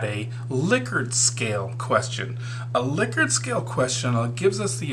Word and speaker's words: Likert: then here's our liquor it is pronounced liquor so I'm going to